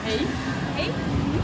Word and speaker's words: hej: Hey, sí, como hey.